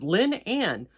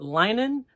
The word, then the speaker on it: Lynanne: it's not that difficult it's Lynn Anne but I get linen I get Leanne I get um linen a lot um my